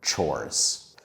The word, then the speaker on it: chores: Some students mispronounce that word by saying chores or chores, but we can be a bit more careful and say it correctly by thinking about the two hard sounds in the middle. The first one is the sound o that the letter O makes. It's not an ah or o, it's o because